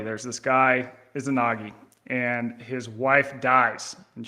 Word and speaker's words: Izanagi: Yeah, I mean, my own pronunciation is a little shaky, but Izanagi is how I understand it.